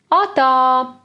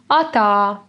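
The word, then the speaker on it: atā: levian is this one atta here we stress the second syllable too atta is like bye bye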